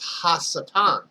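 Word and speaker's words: השטן: In the Hebrew, it's pronounced Ha-Satan, which meaning Ha, the, Satan, meaning adversary.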